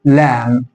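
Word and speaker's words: lamb: هنا حرف جه بعده البي يبقى مش هنطق البي فهنا اقول لام هنا ان جي بعده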